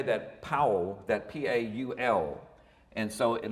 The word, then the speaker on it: Paul: Czech you'd say that Paul, that P-A-U-L. And so it looks just like Paul, and a lot of people say it as Paul, but it's actually pronounced in the Czech way, Paul, and that's the